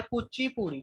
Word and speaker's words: Kuchipudi: और कुचिपुड़ी dance form की बात करें तो कुचिपुड़ी इज प्रोनाउंस्ड एज, जैसे मैंने बोल के बताया कुचिपुड़ी, ठीक है, लिखते कुछ और है, प्रोनाउंस इसे किसी अलग तरीके से किया जाता है।